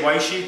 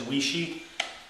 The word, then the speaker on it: Weishi: i used to say waishi till i was corrected and i've been told i think the proper pronunciation is wishy like my father used to say i'll say it my